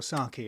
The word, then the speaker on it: sake: worried he died or saki as the rest of us would pronounce it well it's okay it's okay it's okay yeah all syllables are about the same length in Japanese that's a good way